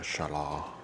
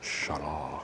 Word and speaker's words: shallot: could call it a shala. I was watching this British guy and he's like shalah. I was like, "Okay, that's whatever. Whatever, dude." Cuz it's probably the French pronunciation.